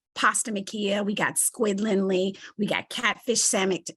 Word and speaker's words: Lindley: on a farm in Rockingham County thank you Lynn I'm Lindley I'm saying it right okay so I'm